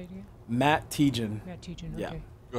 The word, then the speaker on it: Tietjen: Matt Tiegen. Matt Tiegen, Yeah. okay. Go ahead and spell it for him.